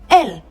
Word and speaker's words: él: El, you stress it like you're singing. El. Why? Because there's an accent on that E, and that means he, okay?